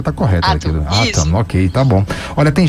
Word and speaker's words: Atom: A pronúncia tá correta. Atom, ok, tá bom.